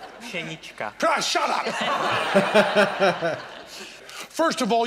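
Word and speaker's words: Pšenička: I do not want to say, here's someone who fooled us, Psenicka. I don't want to put a P before an S, ever. Psenicka. Psenicka.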